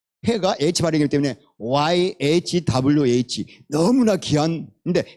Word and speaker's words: Yahweh: 고 캐 가 h 바램이 고 와우가 w 발음이 고 해가 hr 이기 때문에 yahweh 너무나 귀한 근데 이 차음 밖에 몰라요 그래서